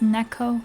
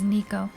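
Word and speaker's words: Neko: Yeah, it's it's Neco, but it's mispronounced as Nico cuz that was my nickname growing up.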